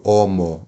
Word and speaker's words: homo: restante das palavras por exemplo homo homem homo e nós não pronunciamos o h tá ele ele é mudo no latim Eclesiástico aliás